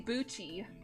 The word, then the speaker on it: Bucci: Or Bochi, or, how do you say it? Was it? Dead. Bucci. Please, for Majora the love of Minish. God. Bucci. Oh, I want to see... Oh, yeah, you say Bucci.